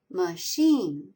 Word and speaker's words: machine: Machine, it has two syllables. Sheen is accented.